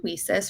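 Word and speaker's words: WiCyS: a quick introduction to WESIS for those of you who are not familiar with us. WESIS is pronounced we sis as in we sisters because that is exactly what we are.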